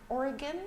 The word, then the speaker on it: Oregon: the conference in Portland Oregon they do pronounce it Oregon not Oregon but it's I